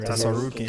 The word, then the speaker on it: Tsarukyan: Tsarukyan. Tsarukyan? Yeah, Tsarukyan. I think the T is silent.